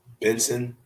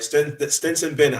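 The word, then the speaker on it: Stetson Bennett: They did lose, unfortunately, John Mechie the third towards ACL, and then Benson. I said his name wrong. Bennett. I'm sorry, Stinson Bennett.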